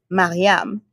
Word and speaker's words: Mariame: That is the way most people who are USians pronounce my name. Okay. Mariame. And so that's fine. That's now, fine. My family says Mariame. Because that's cooler. Mariame is like the kind of Frenchified, West Africanified version of what you just saw.